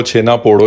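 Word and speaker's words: ଛେନା ପୋଡ଼: इसका जो actual pronunciation है वो छेना पोड़ो ही है.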